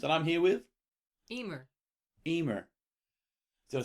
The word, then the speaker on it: Eimear: Eimear. Did I say it right? You did. Eimear.